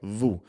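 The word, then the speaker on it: vous: My favorite example of this is something like vu. Okay. So vu is the polite or plural form of you. It's spelled v o u s. You don't pronounce the s. Okay. Vu.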